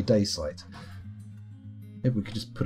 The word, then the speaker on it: dacite: Wiki has a pronunciation on most of their articles and they say daysite.